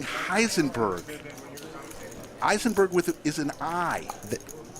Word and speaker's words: Heisenberg: H check it out look jabl is saying Eisenberg for the win no he's saying Heisenberg Eisenberg with is an i no I I